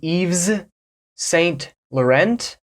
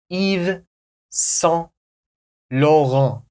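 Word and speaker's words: Yves Saint Laurent: from Paris YSL do you know how to pronounce this one in America someone might say EES St Laurent Eve St Laurent or they might just say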